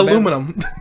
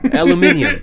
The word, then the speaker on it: aluminium: You acknowledging how aluminum. Aluminium. Aluminium. You gotta say it like the British people do.